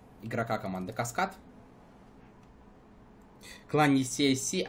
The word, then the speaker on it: CSC: Тем более это аббревиатура, и здесь каждая буква, по идее, по правилам, не за, в английского языка, зачитывается именно так, как она звучит в алфавите, то есть все-таки CSC.